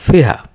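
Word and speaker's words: Ferrein: These stations are the medullary rays of Fiha. এই ফিহা একজন বিজ্ঞানীর নাম, বানানের সাথে উচ্চারণের মিল নাই, উনি একজন ফ্রেঞ্চ অ্যানাটমিস্ট। তো ফরাসি ভাষায় এইরকম বানানকে ওইরকম করে উচ্চারণ করা হয়।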